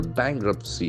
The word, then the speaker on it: bankruptcy: bankruptcy bankruptcy bankruptcy Jackson of course on the first syllable bankruptcy in bankruptcy so it's